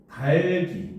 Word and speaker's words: 닭이: 닭이가 아니라 달기. 요렇게 발음을 해야 되죠.